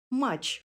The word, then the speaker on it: матч: дзвінкого би до д матч пишемо тич вимовляємо і чуємо чи мач Прочитайте слова дотримуючись правил